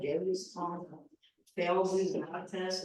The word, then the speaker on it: Genghis: You know, it's like people pronounce it different ways, like I heard it like Chinggis. No, Genghis is original.